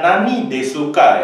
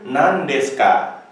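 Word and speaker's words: 何ですか: bagian namdeska kita melihatnya Ya kalau saya ucapkan bukan Nani desuka ya tapi nandeska memang huruf kanji ini bacanya Nani ya Nani tapi dalam proses pelafalannya tergantung depan dan belakang itu bisa menjadi Nani bisa menjadi nan jadi ini hilang nah kemudian kita bisa melihat Deska nah ini u di tengah-tengah konsonan ya tidak bersuara dia akan hilang sehingga kita bisa melihat dia tidak diucapkan korewa Nani desuka desuka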